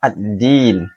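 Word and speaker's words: الدين: Kemudian kesalahan yang selanjutnya adalah tasydid pada kata ad-din yang sering diabaikan. Huruf dal di situ bertasydid, jadi harus ditekan bacanya. Contohnya ad-din, ad-din, yaumiddin, yaumiddin. Tidak boleh tanpa tasydid.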